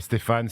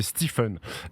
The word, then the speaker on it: Stephen: les gens qui m'appelle Stéphane Steven Stephen tout ça donc je laisse passer en fait c'est Stephen Stephen le E en prononce comme un i euh le pH comme un f Stephen voilà Stephen Stephen